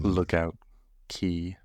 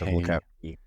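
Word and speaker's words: Lookout Cay: sneak preview like right before of the um Lookout key yes Lookout key I say supp to be pronounced key that's why that's the way Disney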